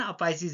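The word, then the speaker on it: apices: इसका correct pronunciation अपाइसिस है, अपेक्स।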